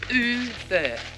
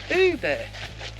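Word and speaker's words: Ubirr: So we learned from the sign back there, the way to pronounce where we are is Uber. Uber. As in Uber Eats.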